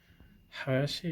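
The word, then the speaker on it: 林: Hayashi is how you say that.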